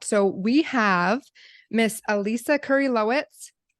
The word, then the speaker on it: Kurylowicz: So we have Miss Elisa Kurylowicz. Pronounce her Nailed name right.